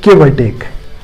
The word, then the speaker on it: give or take: take that means approximately when it comes to pronounce this phrase we reduce o from it it's like giveaway take give or take for